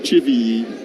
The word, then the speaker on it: Chivilli: In that last name, Zach, is there an emphasis on any one of those syllables? Please say yes. Here's the 1-0 pitch. Taken down low, and the count now 2-0 on Dansby. No, it's just Chivilli.